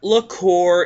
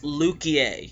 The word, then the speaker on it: Luquier: going to say something it's not liqueur it's not Le queer it's lukier if you're gonna play